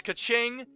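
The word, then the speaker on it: Keqing: kind of adds to the charm speaking of mispronunciations actually um I wanted to also say it's kaching and Chichi I know better now thank you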